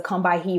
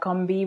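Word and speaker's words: Combahee: read it as a come by he river collective statement um but i've heard barbara smith say that it's pronounced the combi river um collective statement um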